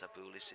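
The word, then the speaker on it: Cebulis: no from italy leo cebullis leo cebullis been told how to pronounce the name it's with an s and not a k at the start of its sabulis is from latvia carlos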